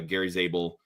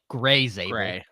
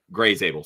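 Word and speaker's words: Grey Zabel: Gray Zable. Gray Zable. Sorry. Yeah, I had the right letters. It just mispronounced. You did. You did. But Gary is Gray.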